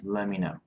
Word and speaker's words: let me know: So let me know, I would pronounce let me know.